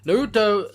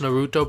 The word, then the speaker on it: Norito: Norito the Moral Leader. I don't think it's pronounced Naruto, but it looks like Naruto, and we all know what Naruto is.